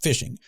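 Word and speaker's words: phishing: I guess it's it's pronounced fishing. It's spelled with a ph though, right?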